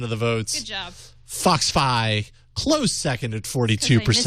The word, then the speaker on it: FoxFi: Foxfi, close second at 42%. I mispronounced it. Yeah, dang. Yes, that's... I called it Foxby. If only you'd pronounce it correctly.